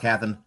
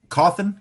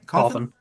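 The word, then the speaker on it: Cawthon: Written by Scott Catherine. Is that how you say his name? Coffin. Coffin.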